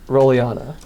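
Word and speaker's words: Rollyana: what is your name name my name is rolana can you spell that r o l l y a n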